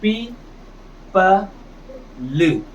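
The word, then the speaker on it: people: पी प ल। अंत के इ को तो पढ़ना ही नहीं है। अंत का इ पढ़ा ही नहीं जाएगा।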